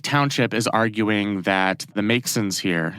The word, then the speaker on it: Maxon: The city, Long Lake Township, is arguing that the Maxons here, it's spelled M-A-X-O-N, so I guess I mispronounced it the first time.